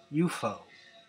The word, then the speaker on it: UFO: Around this time, a new music venue opened in London named UFO, pronounced UFO.